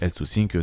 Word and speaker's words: Health2Sync: Pour Health2Sync, se prononce donc Health2Sync, c'est une start-up qui, quant à elle, propose une solution numérique pour les patients diabétiques.